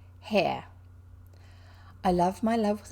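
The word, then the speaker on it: Haigha: happy his name is haiha no he pronounced it so as to rhyme with mare hair h-a-i-g-h-a pronounced hair i love my love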